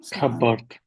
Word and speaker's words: cupboard: cupboard cupboard cupboard cupboard cupboard Which silent Which letter is silent?